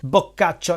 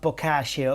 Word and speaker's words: Boccaccio: Deone Joan not Giovani bacho not bashio or bachio let's jump just for